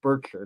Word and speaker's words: Berkshire: And Berkshire, I guess I should say, I think they like it pronounced Berkshire, not a long I there.